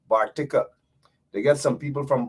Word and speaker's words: Bartica: Notice I said Bartica, how it should be pronounced, right? Bartica.